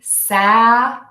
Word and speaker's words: Saturday: We have the flap T in here, which I have a class on that if you're interested. And we're going to say that letter T as a D sound. So Saturday. You can also think of it as sadder. This is a sadder day than Sunday.